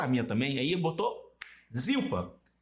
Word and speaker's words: Zilpa: Aí botou Zilpa, Zipar, é Zipa na pronúncia.